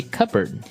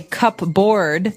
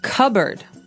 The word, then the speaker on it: cupboard: We usually keep them in a cupboard. Okay, so you might want to say cupboard because it's cup, C-U-P-B-O-A-R-D. That's not right. The word is pronounced cupboard.